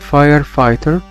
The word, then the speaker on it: firefighter: حرفي ال GH في كلمة firefighter هنا بيكونوا silent. silent يعني ما بيتنطقوش.